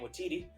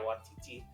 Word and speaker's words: Waititi: Yeah, can't pronounce his name Waititi. But Taika Waititi. Said, yeah, Waititi.